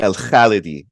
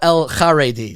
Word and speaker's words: Al-Khalidi: Al-Khalidi, with an L, Al-Khalidi. I call him Al-Kharedi. So that's my own mistake that I am projecting my yeshiva background.